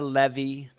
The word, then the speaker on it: Leve: your name right uh it's levy but everyone says levy so i just kind of go with it i understand when your name's seven you're used to that kind of stuff levy um this past weekend